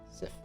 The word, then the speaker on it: Sif: You head off into the direction of Sif. Her name is Sif Blackfeather. And she has... CIF? Uh-huh. What was that? How do you spell it? CIF? S-I-F. Sif. Sif. Think. Like the Viking spelling. Nordic spelling.